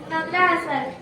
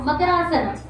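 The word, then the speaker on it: मकरासन: She is pronouncing Magarasan like Makar, you know, Makar Rashi. We have some 12 Rashis, no? Makarasana. It's like, okay, crocodile pose known as Makarasana.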